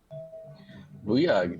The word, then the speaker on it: Booyah: So, Booyah, where are you from? Booyah? Booyag? I'm not sure how to say it. Booyah, that is correct.